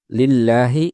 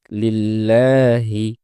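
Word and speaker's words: لله: দুই নাম্বার হচ্ছে লিল্লাহি। এ জায়গায় যেহেতু আল্লাহ শব্দের লামের পূর্বে জের এসেছে এজন্য এই লামটি পাতলা হয়ে উচ্চারিত হবে। উচ্চারণটা হবে লিল্লাহি।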